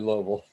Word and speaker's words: Louisville: lot of summers in outside louisville yeah okay cool two-syllable word exactly yeah for sure so